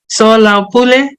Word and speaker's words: Soalaupule: Did I pronounce it right, Natalie and Tino? SOALAUPULE?